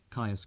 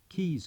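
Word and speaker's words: Caius: How many non-Englishmen would know that what looks like Belvoir Castle is pronounced Beaver Castle, Kais College, Keys College, Cholandley, Chumley.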